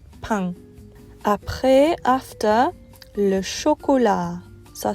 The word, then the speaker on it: pain: The next word is spelled like the word pain in English, but it's pain.